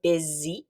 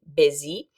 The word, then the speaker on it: busy: It's not pronounced exactly like it looks. It's like a Z sound, busy, busy.